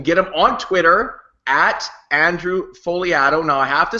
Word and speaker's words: Fogliato: him on Twitter Andrew folato now I have to spell it uh f o g l a t and his 160 Twitter bio reads the g is silent that's the first thing